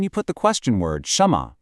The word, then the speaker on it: 什么: And finally, to wrap up this phrase, we have the question word 什么, pronounced 什么.